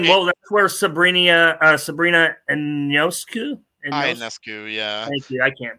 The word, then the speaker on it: Ionescu: Ionescu, yeah. Thank you. I can't pronounce her name.